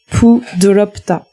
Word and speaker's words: 부드럽다: Donc le mot en coréen c'est pudolopta. Pudolopta. Pudolopta.